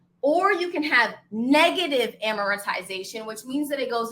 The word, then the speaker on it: amortization: Now, amortization. Okay? Amiratization. I'm saying it over and over again so you know how to pronounce it.